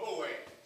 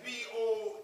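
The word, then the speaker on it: Boaz: by the name of Bo that's b o a z Bo not as you hear it but as it is spelled and while she got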